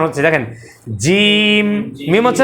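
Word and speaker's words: ج: শেষে কি তাহলে জিম শেষ হবে ঠোট ওখানে চলে যাবে দেখেন হ্যাঁ শেষে শেষ এখন জিমের প্রথম শুরু হবে জিহবার মাঝের যে অংশটা তালুর মাঝখানে লাগবে জিম জিম জিম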